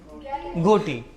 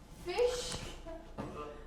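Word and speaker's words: ghoti: इसका प्रोनन्सिएशन है। फिश सर सर कैसे प्रोनाउंस होगा ये? एक्साक्ट्ली यही डाउट था बाकी सारी यूनिवर्सिटी को भी कि ऐसे कैसे उसने भी लिखा लेट मी एक्सप्लेन इनफ में जीएच को क्या प्रोनाउंस करते हैं?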